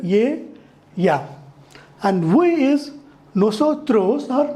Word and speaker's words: ella: So E is pronounced as ye and double L is pronounced as y, ye. So ye, ya. So this E double L A is pronounced as ye, ya.